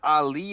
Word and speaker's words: Arie: It's Ali Han. Ali. The R is pronounced as an L.